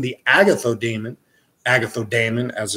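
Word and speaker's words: Agathos Daimon: hand bath path books that is a Greek word so when you're saying the Agatha demon Agatha Damon as it's pronounced you're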